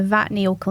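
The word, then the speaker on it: Vatnajökull: for where you're looking at this cuz I butchered it at the beginning um so my research is based in the vatne oal national park that was close you were very close um and uh vatne oal national park has seen a tourism boom since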